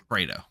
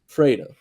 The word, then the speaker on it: Fredo: Is it Fredo or Fredo? Fredo. Fredo. Got it. Like Alfredo.